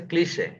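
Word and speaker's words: cliché: এটার উচ্চারণ হচ্ছে ক্লিশে, এটার উপরে এই চিহ্ন থাকে ক্লিশে।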